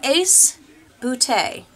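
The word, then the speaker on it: Ace Beauté: have here a palette and this is from ace bootay I know that sounds like I'm making fun but it's actually pronounced it's pretty it's spelled beaut with a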